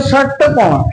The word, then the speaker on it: षटकोण: सा षटकोण, श षटकोण उच्चारण करें, षटकोण, षटकोण, षटकोण। तो जीव तालु से भी ऊपर टकरा रही है, यानी कि षटकोण क्या है आपका? मूर्धा।